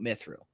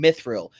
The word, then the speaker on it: mithril: and and like uh this is for r-i-l Real it's like Brilliance in Israel silmaril also an enderil the sword of Aragorn and in mithril and quote in parentheses